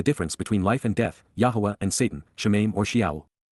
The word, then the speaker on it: Yahweh: correct and therefore acquitted, Yahweh, Yahwa, the proper pronunciation of the name of Eloha, God as directed in his Torah, teaching regarding his higher